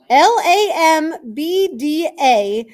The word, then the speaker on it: lambda: letter anybody know the name of it lambda L AM B da is the way that you spell the pronunciation of that Greek letter lambda say it